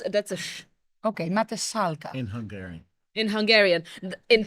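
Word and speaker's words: Mátészalka: Matesalka. Matesalka. Yeah. Matesalka. So if you see the S and Z next to each other, S and Z next to each other, that's a S.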